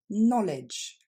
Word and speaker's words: knowledge: règle suivante en phonétique quand un mot commence en anglais par le contexte k n on entendra pas le K on entendra que le N c'est le cas par